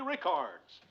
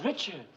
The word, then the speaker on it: Richards: the best of luck to our own Mary Ricards.